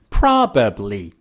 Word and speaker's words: probably: The next tip is about the word probably. How do you say it? Probably. I would probably move to another city. Do native speakers say I would probably? No. Native speakers remove the second B, and instead of probably, they say probably.